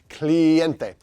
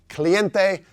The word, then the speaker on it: cliente: because it's El cliente cliente again use the burrito rule of pronunciation here client add an e on the end cliente and what does the